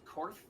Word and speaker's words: Kourth: Their name is Korth. It's spelled Kourth, and their preparations for war.